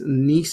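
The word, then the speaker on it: gneiss: please up next is nice nice is how you say this name the g is silent but does need to be there nice and key features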